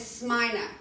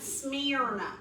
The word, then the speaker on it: Smyrna: I was like what I heard a lot of people pronounce it Smyrna like I'm smearing something yeah yeah right yeah but